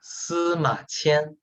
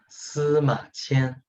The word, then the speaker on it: Sima Qian: name one of the Chinese teachers will again pronounce for us. Yeah, Sima Qian. Yeah, Sima Qian.